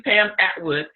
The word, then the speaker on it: Pam Atwood: come out am I saying it correctly Pam Atwood yes us today and she's going to help